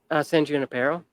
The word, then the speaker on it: San Junipero: San Junipero, Oh, Junipero.